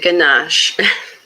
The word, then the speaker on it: ganache: What's Celine, you want to help me pronounce this word? Or? It's chocolate ganache.